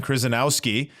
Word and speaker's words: Kryzanowski: I've got Kryzanowski. How are you doing? Wonderful, Stephen. And brownie points for saying my name correctly so early in the morning.